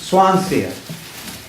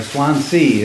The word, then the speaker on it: Swansea: But it was Swansea, or Swansea is how it's spelled, but it's pronounced differently.